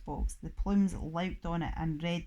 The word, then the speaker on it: Plume: It was all my idea, said Mrs Plume, pronounced plum.